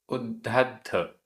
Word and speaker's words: उद्धद्ध: उद्धद्ध, उद्धद्ध आधा द ध 2 बार, उद्धद्ध।